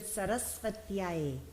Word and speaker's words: Sarasvatyai: this is this word Sarasvatyai. Pronounce. Sarasvatyai. You get extra energy before compound consonants because you need a little more oomph to carry 2 consonants.